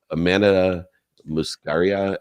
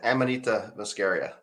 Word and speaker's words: Amanita muscaria: me an idea and I hope I can pronounce it right it's a Amanda muscaria extract close yeah Amanita muscaria um scary I came from Cabo I should